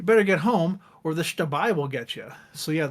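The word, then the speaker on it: Xtabay: of Mayan origin, and X in Mayan is pronounced like an SH in English, so shtabai.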